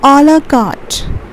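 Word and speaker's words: à la carte: Okay, how do you pronounce this as? It's a la carte.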